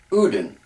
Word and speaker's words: Odin: they have those sounds, some pronounce Odin, Udin. So you have an oo sound instead of an o sound.